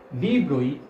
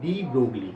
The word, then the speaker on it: de Broglie: is not say like de Broglie. Generally, most of the students say de Broglie wavelength. No, it is not. Pronunciation is de Broglie wavelength. So always remember it should be de Broglie.